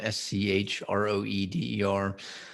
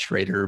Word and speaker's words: Schroeder: am no it's a it is pronounced schrader but i i never my